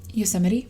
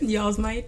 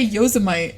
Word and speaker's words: Yosemite: Oh, when you said, can you pronounce the park name again? Yosemite? Yeah. No. Don't you... Go ahead. Say it. Y'all's might.